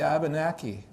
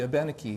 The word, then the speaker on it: Abenaki: Long ago, actually, a good thing to do would be to incorporate a custom of the Abenaki, or the Abenaki, however you want to pronounce it, of the northeastern woodlands.